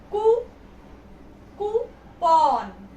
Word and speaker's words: coupon: it is wrong the correct word is coupon cool Pawn coupon it is coupon if you are if you people have been pronouncing this word as coupon no my dear